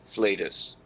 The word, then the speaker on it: flatus: t and and and i have checked multiple sources and they all pronounce it flatus and nerdy asks a